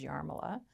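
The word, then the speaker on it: Jarmila: My sister's name is Yarmila, and it's a J.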